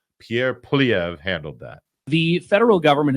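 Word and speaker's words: Pierre Poilievre: leader in Canada he's one of our favorites Pierre PV that's right I pronounced it correctly I had promised earlier in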